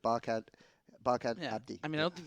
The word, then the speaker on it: Barkhad Abdi: Oh, yeah, and of course, the actor that he was referring to, Barkhad Adbi, in That's Captain not how you Phillips. pronounce his name. Barkhad Abdi.